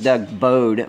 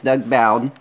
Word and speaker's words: Bowden: friend Doug bowed and I said his name right this time I thought it was Doug bowed but I heard him say his name and it's Doug Bowden is selling this product